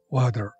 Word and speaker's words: water: 注意，这里面的 water 的 d 会被浊化成 d 的音，读成 water.